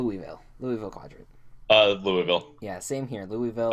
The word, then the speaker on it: Louisville: like the city of Louisville too okay it's just hard to say because like a lot of people in the Midwest especially go Louisville Louisville like like like two syllables they say the village